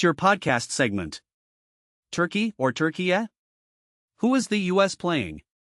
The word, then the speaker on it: Türkiye: FIFA and Fox Sports are going with Türkiye, pronounced Türkiye.